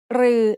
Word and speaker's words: รือ: รือ is pronounced like a combination of รอเรือ and the long vowel สระอือ They are both written like the letter ถอถุง with an extra long line.